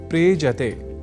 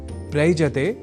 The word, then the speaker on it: प्रेजते: दोनों के मेल से शब्द बनता है प्रेजति। प्रयजति नहीं।